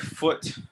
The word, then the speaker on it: foot: two feet um foot it has two o's so you think you would say ooh food but like you know food food yeah say food but you don't say food you say foot foot don't don't round your